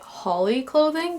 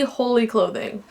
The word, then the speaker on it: Holy Clothing: from the future um I realized that I kept pronouncing it Holly clothing because that's how the other youtubers pronounce it alright so the first